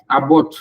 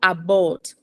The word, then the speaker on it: abort: Abort. Go ahead. Abort. It's a schwa sound. It's not abort.